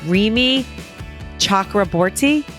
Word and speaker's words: Rimi Chakraborty: I'm really excited to bring you Rimi Chakraborty.